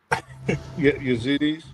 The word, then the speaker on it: Yazidi: How do you pronounce that word? Yazidi.